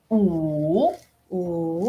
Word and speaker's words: 五: Oh, is it oo or oo? Ooh. Yeah, you feel like it's going down.